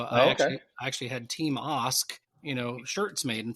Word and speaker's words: Ask: You know, my last name is ask, like ask. It's pronounced Ask, in fact. So, I actually actually had team Osk, you know, shirts made.